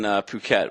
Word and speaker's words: Phuket: yeah now we're in Phuket which is uh like beach resort area it's spelled like it but it's it's Phuket Phu ket it's paradise it's easily